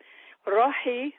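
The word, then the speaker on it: روحي: It's roh, R-O-H. Rohi means my soul.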